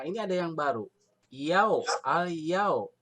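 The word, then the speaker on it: اليوم: Yau, al-yau. Yau, ada huruf waw mati, tapi sebelumnya baris patah, bukan doma. Kalau doma tadi apa? Mad tobi'i. Kalau patah, ini disebut apa? Madlin. Maka dibacanya al-yau ya, gitu.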